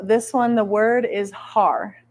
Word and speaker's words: har: one the word is har h a r har we pronounce it by Rolling the r a little bit so the r when